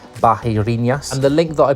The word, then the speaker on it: Barreirinhas: need to get to this town called Barinas or they would pronounce it in Brazil something like Bahinas.